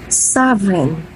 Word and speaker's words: sovereign: we do not pronounce or say G sounds in these words so come on please